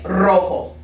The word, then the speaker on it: rojo: soft d sound and then when it's at the beginning of the word that's when it's that rolled r so then it'd be like for the color red you would say rojo now i know a